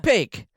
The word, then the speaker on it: Paque: we can just have a moment of silence, and I can say, Paque. Oh, how do you say that? You Paque? just did it right. Paque.